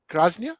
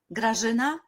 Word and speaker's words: Grażyna: So again, thank you, Gráznia, that's how you say it? Grażyna. Okay, Grażyna and Angela for joining us.